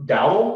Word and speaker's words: Dowdall: Dowdall. Is that how you say it? Yes, sir. Dowdall right here.